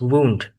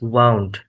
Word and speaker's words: wound: The first pronunciation is wound. Wound here can meaning is injury on the body and uh the second pronunciation is wound. Wound here can meaning to twist something like uh twist turn turn the valve or something like that.